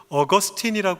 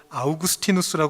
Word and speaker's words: 아우구스티누스: 여러분도 이름을 많이 들어보셨을 어거스틴이 하는 아주 위대한 역사 속의 신학자 교부가 있습니다이 사람은 요즘은 이제 원어 발음으로 라틴어 발음으로 아우구스티누스 많이 부르는데 과거에는 영어 이름으로 어거스틴이 많이 알려져 있었죠이 사람은 보수적인 복음주의 뭐